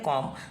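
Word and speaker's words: calm: होगा जो यहां पे एम के पहले जो यह कंसोनेंट है एल यह साइलेंट है यह क्या है साइलेंट है तो कॉम तो यहां पे साइलेंट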